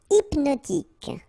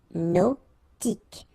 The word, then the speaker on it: hypnotique: Hypnotique. Remember, at the end, Q-E, K, tic. So H is not pronounced. Hypnotique.